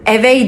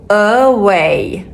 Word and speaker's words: away: Ben W'nun okunuşunu da öğrettim size. Şimdi bunu okuyacağız beraber. Away. Bakın away değil. Away.